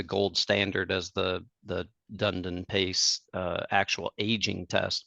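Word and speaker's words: DunedinPACE: latest generation the third generation of the DU dunet and excuse me oh I said it wrong say it right for me so I can be educ say it again DED D yeah D yes okay Dundon Pace sounds so much better it just rolls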